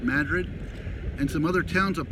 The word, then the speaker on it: Madrid: And from the way she explained it, the town called Madrid, spelled like Madrid, Spain, but Madrid, and some other towns up that way towards Santa Fe, which is pretty far north of Albuquerque.